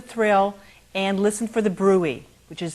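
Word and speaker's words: bruit: check for the thrill and listen for the Brew which is spelled BR uit now it's hard for some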